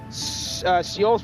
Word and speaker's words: Seoul: Seoul's pronounced Seoul, even though it's spelled differently.